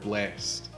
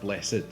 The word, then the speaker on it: blessed: back there there is a distinction in some ways between the word blessed and the word blessed although they're spelled the same there's the single syllable there's the double syllable and the way that